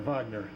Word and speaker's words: Wagner: never know MH now the Germans pronounce Wagner Vagner and we all thought